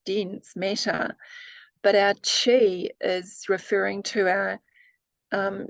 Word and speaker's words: chi: one's heart yeah yes it's um pronounced Chi thank you you I